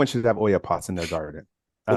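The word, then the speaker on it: olla: but it's not normal but like with the Oya pot it's spelled o for anyone who's wondering it's O Spanish uh pronunciation Oya but what I would do in your environment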